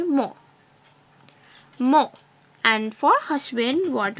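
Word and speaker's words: mon: Here, we don't pronounce this N, we just say mo.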